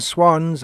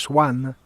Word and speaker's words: swan: not derive any pleasure there purport crows and swans are not birds of the same feather because